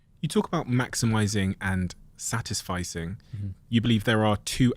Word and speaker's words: satisficing: Yeah, did I pronounce satisficing.